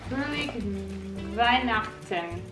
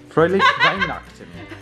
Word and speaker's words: Fröhliche Weihnachten: Fröhliche Weihnachten. That would be my guess. I think you're right. Fröhliche Weihnachten.